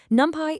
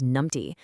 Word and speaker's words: NumPy: Fun fact from our source, by the way, NumPy is sometimes jokingly mispronounced as numpty, which is actually British slang for an idiot.